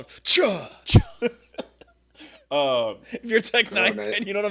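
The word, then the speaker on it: Tech N9ne: pronounced Tech Nine. Tekanita? Tech Nine.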